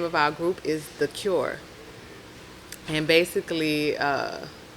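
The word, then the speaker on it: Thakur: So The Cure. The Cure. It's spelled T-H-A-K-U-R.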